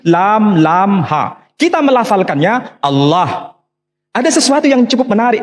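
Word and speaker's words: الله: Tidak ada seorang pun di kalangan masyarakat Timur Tengah ketika menjumpai istilah alif, lam, lam, ha, dibaca Allah. Tetapi mereka serempak menyebutnya dengan pronunciation Allah. Menyebut dengan sebutan Allah.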